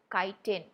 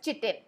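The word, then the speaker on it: chitin: Now the name of that exoskeleton it is called as kiten. Now you will not call this as chittin. Okay this is pronounced as kiten. Don't even dare to try calling it as kitten.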